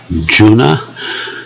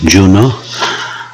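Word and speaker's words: Juneau: Polecimy więc z Papa Alfa Juliet November, to jest Juna, chociaż tutaj bardzo różna jest wymowa nazwy tego miasta, mówią też Juno, a prezydent Trump to w ogóle mówił Juno, a mówią też Juno, ale my zostajemy przy Juna.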